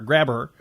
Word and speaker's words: Grabher: Grabber is spelled Grabher, Grabber.